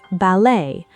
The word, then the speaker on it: ballet: She gave examples like ballet, borrowed from French, stressing the second syllable despite being a relatively short word, or genre, an unusual pronunciation borrowed directly from French spelling conventions.